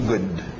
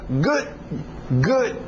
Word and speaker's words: good: Para no D, mas diz o D um pouquinho good. Ok? Esta palavra aqui, na hora que eu empreguei essa palavra nesta expressão aqui, ele ficou com uma pronúncia good. Eu parei, eu quase nem falei o D.